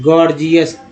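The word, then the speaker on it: gorgeous: ओ यू एस को बोलते हैं जियो गौर, तो पहला जी ग, दूसरा जी जो है ज के रूप में उच्चारण किया गया, गॉर्जियस।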